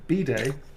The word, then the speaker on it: bday: Day Day birthday day because bday is the British pronunciation of bed in B I know in America in America you say bed it's actually we say bday like a b day right it's a bday